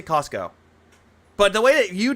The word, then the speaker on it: Costco: I noticed people in the chat joke about how you pronounce Costco as Castco. Oh, this has to be a detract. This has to be a LARPer. Don't give him money. I say Costco.